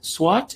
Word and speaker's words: SWOT: celebrate this milestone in midge tolerant wheat now swat is spelled s-w-o-t and stands for strength weaknesses opportunities